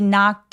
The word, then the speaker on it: knocked: 더 설명을 드리자면 he knocked on doors 할 때 knock 마찬가지로 아까 walk처럼 무성어로만 끝났기 때문에 요 ED는 통째로 어떻게 발음이 돼요? T로 발음이 되죠. 그래서 knocked 소리가 하나예요.